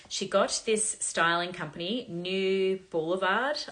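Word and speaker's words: Neue Blvd: got this styling company, New Boulevard, I believe it's pronounced, N-E-U-E, New B-L-V-D, Boulevard.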